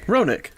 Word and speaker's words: Roenigk: It's still pronounced Ronick. It's one of those, I think at least it's pronounced Ronick. It's one of those where the G's basically not there.